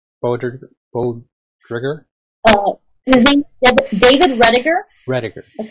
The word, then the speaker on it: Roediger: it David both voters both trigger Oh David Roediger roediger that's how you pronounce it ready redditor yeah and I have